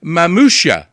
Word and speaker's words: Mamuscia: two now so i've got um uh courtney mamousha uh is that how i pronounce the last name you got it i